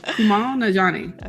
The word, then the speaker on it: Kumail Nanjiani: Yeah, Kumail Najani.